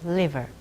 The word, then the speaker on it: liver: 그래서 이번에도 liver라고 혀끝을 윗니의 뿌리 쪽에 대고 하는 것과 그저 river 하고는 전혀 다른 뜻이 되지요.